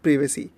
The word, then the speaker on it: privacy: किया, मैंने चेक किया प्राइवेसी होता है प्रिवेसी, तो मेरे को दो प्रोनाउंसिएशन मिले, ठीक है. तो प्राइवेसी भी होता है प्रिवेसी भी होता है, तो मैं प्राइवेसी बोलूँगा, मेरे को बोलने में अच्छा लग रहा है.